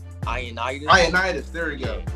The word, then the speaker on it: Ioannidis: Ioannidis.